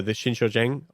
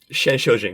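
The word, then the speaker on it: Shenshoujing: But yeah, in this point, I guess like this, of course, the mirror calls back the Shinshojing. I said it wrong, right? Shenshojing. No, yeah, that's right.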